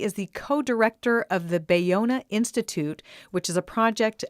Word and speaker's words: Ballona: marsha hansgum she is the co-director of the bayona institute which is a project of the international humanities center bayonna is spelled b-a-l-l-o-n-a and that's in the playa del